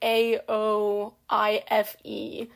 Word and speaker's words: Aoife: Like, for Aoife, hers is, like, Aoife.